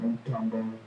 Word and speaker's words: Mutombo: He said Mutombo. He said it, Mutombo. I won't say it again. That's how his name is pronounced.